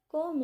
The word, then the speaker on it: comb: Comb it properly. इसको comb नहीं बोलना क्योंकि बी साइलेंट होता है.